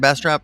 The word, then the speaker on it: Bastrop: Seattle and Ryan's down there in Bastrop beautiful Bastrop Texas is that how you say it Bastrop yep there you go Bastrop Texas uh the